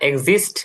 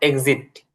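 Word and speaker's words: exit: না, এক্সিস্ট না, এক্সিট, টি। ওই, হ্যাঁ।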